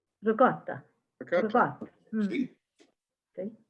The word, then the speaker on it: ricotta: now I was told definitely that it was 1.5 pounds of ricotta. Now I don't say it properly. How does the Italian say ricotta? Ricotta.